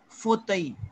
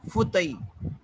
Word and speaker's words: fauteuil: Like Have to pronounce what? Armchair. होता ही armchair. Okay. Fauteuil. Fauteuil.